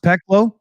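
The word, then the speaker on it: Пекло: The new domestically produced rocket drone, Peklo. Is that how it's pronounced? Peklo?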